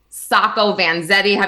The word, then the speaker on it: Sacco Vanzetti: There was a case in the 1920s, Sacco Vanzetti. Am I pronouncing that right?